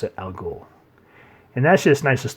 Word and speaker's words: al Ghul: Roz or race however you guys want to pronounce it al Ghul and that's just nice just the way he's